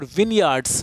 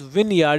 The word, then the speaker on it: vineyard: There were vineyards. This pronunciation is vineyard. It's not vineyard.